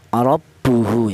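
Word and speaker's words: رَبُّهُ: Jadi cara bacanya huruf ra yang berharakat fathah ini ditebalkan ya. Ro yaitu menggunakan ee lidah bagian belakang diangkat ke atas. ro ya rabbuhu ya seperti itu di mana untuk seputar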